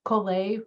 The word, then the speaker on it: Colette: And along those lines, that's me, Colette, rhymes with Olay.